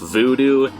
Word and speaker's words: Vodou: Vodou. Often pronounced voodoo, this is a religion that's been very misrepresented, almost to a stereotypical extent.